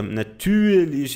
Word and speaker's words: natürlich: Aqui o nosso ouvido não é muito preparado para isso, então o brasileiro escuta, natürlich, ele acha é mais fácil falar como se fosse um I, mas ele não é pronunciado como se fosse um I.